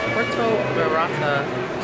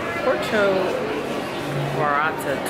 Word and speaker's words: Puerto Vallarta: of the trip and we are going on Puerto virata oh no let me say it right porcho orata tours the line is moving we're going on